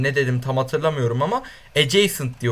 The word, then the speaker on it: adjacent: şunu söyleyeyim geçen videoda şu komşuluğa adjacent adjacent diye okunuyormuş Ben ne dedim tam hatırlamıyorum ama adjacent diye okunuyormuş Onu bir